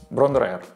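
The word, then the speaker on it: Bron-Yr-Aur: поклонников led zeppelin а вот кстати как правильно произносится это название брандриф а переводится это название так золотая грудь золотая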